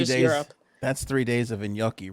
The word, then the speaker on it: gnocchi: yucky okay it's italian you say it it's gnocchi yeah that's right you're saying which should i